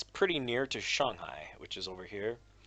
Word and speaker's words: Shanghai: passports things like that so note I say Shanghai just because that's what I'm used to now that's the actual pronunciation so I do speak a good bit